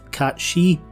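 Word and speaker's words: Cait Sith: despite my scottish accent i'll be pronouncing the robotic feline's name as kate seth rather than the etymologically correct cat she simply because that's how reeve says it in touch of cerberus before heading down to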